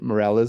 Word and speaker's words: Moralez: Moralez is how I pronounce it.